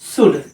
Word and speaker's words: should: SHOULD, शुड। अब यहाँ पे एल साइलेंट है।